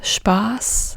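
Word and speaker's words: Spaß: but z z and if you say fun in German it's spas and then it's not notas it's not Spas but Spas a bit sharper the S is a bit more like s and not like Z this is the main difference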